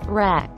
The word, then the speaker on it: wreck: Wreck. As a verb, means to reduce to a ruinous state by violence. It is pronounced with a short e, rhyming with neck.